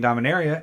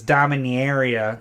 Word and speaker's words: Dominaria: Oh, by the way, found out this week that you are saying Dominaria correctly, and I am saying it wrong by saying Dominaria.